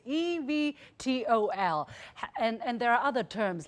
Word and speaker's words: eVTOL: Exactly how to pronounce it, I don't even. It's eVTOL.